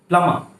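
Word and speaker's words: plumber: प्लमा, प्लमा, प्लमा।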